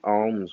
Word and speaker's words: Om: you to do 3 Oms with me. The Om is a base of the Sanskrit language. Om has 3 syllables, A, U, M, and there's a fourth, which is the silence at the end.